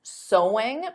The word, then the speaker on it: sewing: and did you get sewing because of course the pronunciation is the same as so there's no sewing though